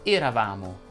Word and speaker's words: eravamo: Come avrai certamente notato, in eravamo ed eravate ho pronunciato la E chiusa. Perché? Perché la tonica non è lei, ma è la A. Eravamo ed eravate, altrimenti sarebbe eravamo.